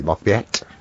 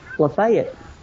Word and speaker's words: Lafayette: episode prank uh-huh l-a-f-a-y-e-t-t-e well the french version would be locked back yes but the tennessee vision version is le fayette play it like lafayette say it like lafayette